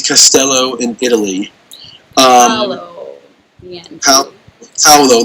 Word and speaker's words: Paolo: Paolo, like think Pow, like Pow and Batman.